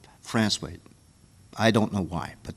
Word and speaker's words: Francois: And it comes from a little town called Francois. It's pronounced, spelled Francois, but on the south shore of Newfoundland called Francois.